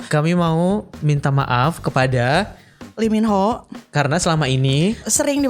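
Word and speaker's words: 이민호: Lee Min Ho ya, nyebutnya biar bener gitu pronunciation-nya kan, Lee Min Ho.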